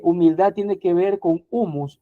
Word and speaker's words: humus: latín y esa raíz en el latín se pronuncia humus, ¿verdad?